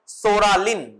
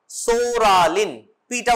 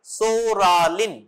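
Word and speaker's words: psoralen: ফর পিটিলিগো number one সোরালিন সোরা পিটা উচ্চারণ হবে না সোরালিন মিথক্সালিন নেক্সট ট্রাইজালিন লেখো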